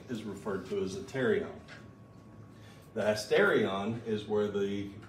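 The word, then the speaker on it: pterion: we've got is the terion the p is silent um so pte R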